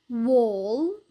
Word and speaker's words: wall: عنا حرف ال A الصوتي لما بيجي بعده double L فدائما بنلفظه O. طبعا هذا الحكي باللهجة البريطانية. فالكلمات هون بنقرأهم كالتالي: ball, wall, small, tall.